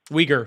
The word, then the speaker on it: Uyghur: Uyghur. The Sorry. Uyghur. I always pronounce it wrong. No, Uyghur. That's fine. It's fine. I believe that's correct anyway. If not, it's really close to that.